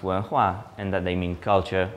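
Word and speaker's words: 文化: Chinese characters, you're able to learn that they're pronounced wenhua, and that they mean culture or civilization.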